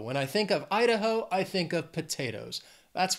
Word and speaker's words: Idaho: Hawaii then we have Idaho has three syllables stress is on that first syllable Idaho Idaho when I think of Idaho I think of potatoes